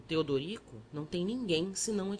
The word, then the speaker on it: Teodorico: o padre triste perguntou-me o meu nome que eu pronunciava tedco o outro amorável mostrando os dentes frescos aconselhou-me que separasse as sílabas e dissesse Teodorico depois acharam me parecido